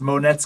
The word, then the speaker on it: Monet: So heads not otherwise it would be Monaet's cloak and that would be odd.